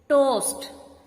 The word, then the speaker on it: toast: word toast is here when two vowels comes one next to the other the second vocal remains silent and the first vowel